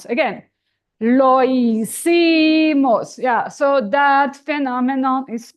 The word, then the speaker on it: hicimos: The H is not sounding, so let's do it. Lo hicimos. Again, lo hicimos.